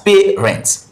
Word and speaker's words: parent: And where do we have the stress syllable? The first syllable, PA. That's pay rent, pay rent.